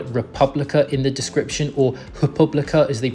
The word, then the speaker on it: República: notice the word República in the description, or República as they pronounce it, that is actually university accommodation, university